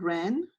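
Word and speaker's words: wren: next line number two the word is Ren okay and we have four letters and Ren and remember one will be silent Ren w and then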